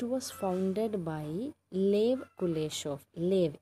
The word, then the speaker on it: Lev: Lev, L-E-V, Lev. I am pronouncing it as it actually spells.